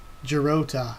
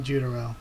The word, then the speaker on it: Jirota: Jirota, not Jutaro. Okay, I was like, I just got some, I just got the last two syllables mixed up.